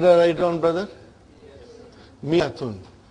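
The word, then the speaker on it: مائة: Miyatun. I wrote alif, but I did not pronounce.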